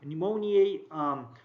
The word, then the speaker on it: pneumoniae: remember because they have pneumoniae pneumonia in its in their names meaning that they cause pneumonia notice that e at the end so it's not pneumonia it's pneumonia yeah and different pronunciations so pneumoniae trap to caucus streptococcus